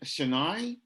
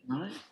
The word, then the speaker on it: Chennai: And wow, so and you're based in Chennai? Is that how you pronounce Yes. it? Chennai?